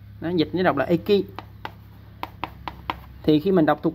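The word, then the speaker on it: 駅: Chữ R nữa là chữ xích, nó dịch nó đọc là Eki.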